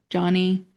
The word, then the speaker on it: Joni: For your listeners that don't know her story, Johnny Erickson Tata, it's spelled Joni, so people think it's Joni, but it's Joni, yeah.